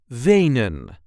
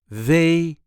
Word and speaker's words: Wenen: This is the way we say vain. Vain. There is a light emphasis on the first syllable. Veain. Venon.